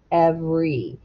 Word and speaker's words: every: you do but not usually most people in kansas where we live say every and the e is completely silent so we're just going